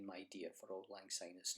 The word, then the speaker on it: auld lang syne: jewel with deer prolong say my dear for auld lang syne is not as my joy that is the